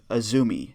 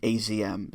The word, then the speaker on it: AZM: high speed champion and it's spelled azm but it's pronounced azumi not azm so don't pull in